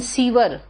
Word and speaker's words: sewer: सेवर एंड सीवर, Vibha SEWER, सीवर है, नाला जो है वो सीवर है। बेटा प्रोनाउंसिएशन तो सुन के और उसकी नकल करके सही होगा।